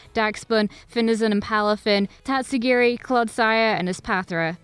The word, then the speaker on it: Tatsugiri: very cool slight editor no it's pronounced tatsugiri and Don dozo Pokedex is kind of